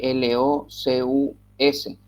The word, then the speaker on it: locus: Se escribe L-O-C-U-S, locus, así como se lee.